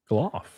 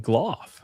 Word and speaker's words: Gloff: Gloff. All this time. I know you've said his name many times and never included the L. No. Gloff. It's fucking Gloff.